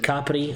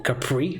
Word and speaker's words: Capri: Ladies and gentlemen, welcome to Marina di Campo, beautiful island of Elba, one of the most expensive island, like together with Capri, or Capri like Americans say, but full of beautiful landscape, a beautiful environment, lovely beach, lovely weather, and lovely sea.